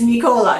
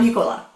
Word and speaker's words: Nicola: So, if you ever meet Nicola, it is Nicola, not Nicola.